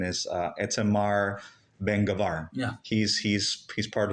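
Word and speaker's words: Itamar Ben-Gvir: right politicians like uh correct me if I'm pronouncing his name right his name is uh etar Ben gavar yeah he's he's he's part he's part of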